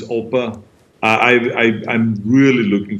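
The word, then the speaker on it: Opa: grandpa or the oppa in german it's oppa i i i'm really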